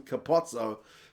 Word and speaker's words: Capuozzo: Left wing is still Monte Ioane, and then Capuozzo, who are the... I always go on about the pronunciation of that guy's name. His own coach calls him Capozzo.